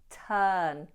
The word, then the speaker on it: turn: We ignore the letter R, so we don't say turn, we say turn, turn. And we make the long sound. No R, turn, turn.